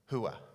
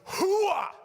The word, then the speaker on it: hooah: You can't say it like this, hooah. You know, it's got to be guttural. It's got to be deep down. It's got to be hooah.